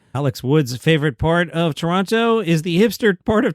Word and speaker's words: Toronto: Alex Wood's favorite part of Toronto is the hipster part of Toronto. It's called Toronto. Canadians like you're over pronouncing there. I'm supposed to swallow that second T, right? Like Toronto.